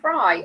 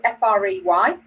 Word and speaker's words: Frey: know that that was by glenn frye or frey i think we pronounce it fry frey um and that yeah